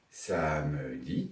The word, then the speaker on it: samedi: Samedi, 3 syllabes ou samedi, 2 syllabes.